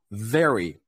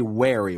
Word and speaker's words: very: is always soft uh for example let's look at this word very very we never say wary we always say very it's it's the word